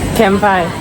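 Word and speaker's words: 乾杯: Yes, Kampai.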